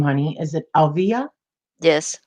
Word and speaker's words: Alvia: This is a How do you little pronounce bit. your name, honey? Is it Alvia? Yes, Alvia.